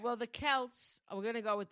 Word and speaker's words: Celts: It's ridiculous because the Kelts, Am I saying it right? Kelts or Celts? I think so. No, I think it's Kelts. Okay. Yeah, because it's Celtic.